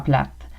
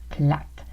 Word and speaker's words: plate: Oui, il était vraiment plate. Il était plate. Donc, on ne prononce pas plat, on prononce plate pour ennuyant.